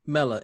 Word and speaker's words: Mela: Is it Mila or Mela? Mela, M-E-L, like melanin.